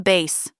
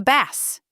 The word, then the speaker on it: bass: A quiet fisherman drops the bass, he said, correcting her pronunciation. She'd read B-A-S-S, like in music, rhyming with bass. He read it with a short A, rhyming with pass.